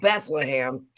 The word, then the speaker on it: Bethlehem: It's spelled Bethlehem, but from where I'm from, we just say Bethlehem, like Bethlehem steel, but it is Bethlehem.